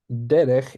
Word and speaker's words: דרך: And noting that derech is also one of those exceptions where the stress comes on the first syllable.